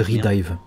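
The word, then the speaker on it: Re:Dive: On passe du coup à une figurine de Ilia, un 7ème, Princess Connect, Redive, je sais jamais prononcer. Oh, c'est Redive.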